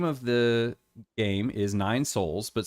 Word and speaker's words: Sols: the game is nine souls but souls is spelled s-o-l-s which means you know a son the the the son